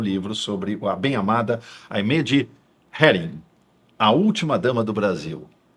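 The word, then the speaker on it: Aimée de Heeren: Vamos falar um pouco dos seus dois livros, em especial o mais recente, A Bem Amada, a história de Aimee de Herring. É assim que a gente pronuncia o nome dela.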